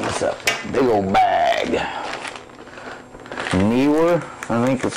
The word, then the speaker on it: Neewer: Neewer, I think that's how you pronounce it.